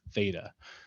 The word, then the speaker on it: theta: given by the formula s equals r times theta. So if you're wondering what I'm saying right now, this little symbol here is pronounced theta, and it represents an angle in degrees or radians.